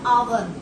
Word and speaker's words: hour: आवर। किसकी sound आ रही है? वोवेल की साउंड आ रही है ना कि एच की साउंड आ रही है। एच हमारा साइलेंट है।